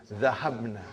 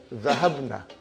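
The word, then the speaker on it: ذهبنا: Now, how do you pronounce? Zahabna. Okay. I ask you, brother, Zahabna.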